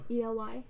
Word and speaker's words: Ely: To Ely State Prison? Eli State Prison? ELY? What has it? Ely is how it's pronounced.